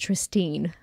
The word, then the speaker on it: Tristine: The only real deviation is that Tristan is played by a woman called, and I think it's pronounced Tristine. Tristine. It's like Tine, not Ten at the end.